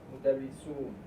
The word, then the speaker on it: مدرسون: أزواجهن مدرسون Make that wow longer. مدرسون And pronounce the haraka on the noon.